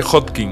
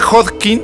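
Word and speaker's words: Hodgkin: digo mal sí Entonces si se escribe hodkin es así hin hodkin hodkin algunos ponen hoskin pero la es como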